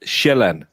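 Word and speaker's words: Sjælland: We call it shellan because the j makes a j sound. So it's land. But in English you pronounce it sealand.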